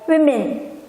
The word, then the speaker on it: women: Kan ini O dibacanya women. I.